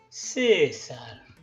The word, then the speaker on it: César: césar sabemos que es cesar sabemos que es el acento está en la primera sílaba por lo cual tendríamos que hacer un tono agudo la primera vez césar en el caso de